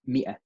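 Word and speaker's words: مائة: this alif is not being pronounced. It's just going mi'a, because we can't really go mi'a, right?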